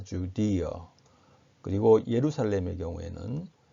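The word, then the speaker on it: Judea: 베들레헴은 베틀리햄 혹은 베틀리엄 이렇게 발음하고 유다지방, 유대지방은 주디어 이렇게 발음합니다. 주디어.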